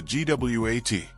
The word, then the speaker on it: GWOAT: Yes, like goat, but W GWOAT, yeah.